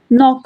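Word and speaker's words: knock: silent है ना tiger नॉक में होगा एन ओ सी के है ना तो के इसमें साइलेंट है तो हमें ये बताने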